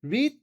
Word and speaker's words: read: Read de yazılış filan değişmiyor. Okunuş değişiyor. Okumak ya read yine böyle oluyor ama read diyor.